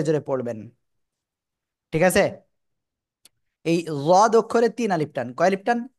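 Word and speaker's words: ض: শুনতে পাই জোরে জোরে পড়বেন ঠিক আছে এই জদ অক্ষরে তিন আলিফ টান কয় আলিফ টান এক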